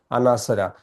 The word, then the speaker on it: Anasara: This is important the proper pronunciation Anasara. Now beta question number 38 is Rath Yatra is celebrated in Puri.